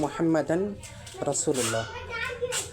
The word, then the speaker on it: মুহাম্মাদুর রসূলুল্লাহ: আমি যখন ভেঙ্গে ভেঙ্গে উচ্চারণ করব তখন হবে মুহাম্মাদান রাসুলুল্লাহ। কিন্তু যখন আপনি সুন্দর করে আরবিতে উচ্চারণ করবেন তখন মুহাম্মাদ রাসুলুল্লাহ হয়ে যায়। অটোভাবে হয়ে যায়।